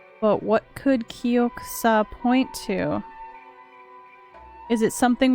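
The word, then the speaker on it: 玉座: all right uh if you shrink down the yo and make it small and you put an accent on the saw you get kyokusa which is the word for throne or a word for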